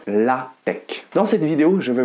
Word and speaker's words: LaTeX: pour me dire que c'est un X et non un K à la fin de ce mot mais contre toute attente on prononce bien la tech dans cette vidéo je